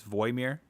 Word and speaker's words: Wojmir: And so like it says Wojmir, but like the way you pronounce it in that language is Voimir.